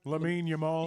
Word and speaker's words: Lamine Yamal: Lamin Yamal.